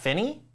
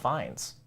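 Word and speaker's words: Fiennes: daily Prophet daily profit I thought his name was pronounced Finney who oh Ralph Finney yeah and I think it's Ralph fines okay I could be wrong I don't know It's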